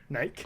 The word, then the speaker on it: Nike: Like it rhymes with Nike. Nike.